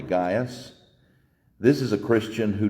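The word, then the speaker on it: Gaius: his name is gas you may have heard him pronounced gaas but more properly gas this is a Christian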